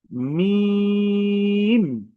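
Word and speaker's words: ميم: কিন্তু মিমের ক্ষেত্রে আমাদের ঠোঁটের যে উপরে যেই শুকন যে অংশটা আছে যেটা সবসময় শুকন থাকে বাইরে বাহিরে থাকে ঠিক সেই শুকন জায়গা থেকে উচ্চারণ হয়। যেরকম আমি যদি একটু বলি মিম ঠিক দুই ঠোট লেগে যাচ্ছে।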